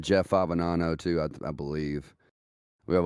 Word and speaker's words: Favignano: the the common mispronunciation the GNN are silent it's a sicilian name so it's Fabiano it's Fabiano ladies and gentlemen get